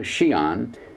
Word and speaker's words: Xi'an: a large jet plane from beijing down to xi'an which is spelled x i a n took less than